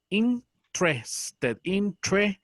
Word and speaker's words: interested: Pero en este caso se pronuncia sin la primera E. Interested.